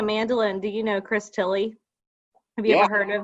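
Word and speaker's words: Thile: uh speaking of mandolin do you know chris tilly have you ever heard of that okay i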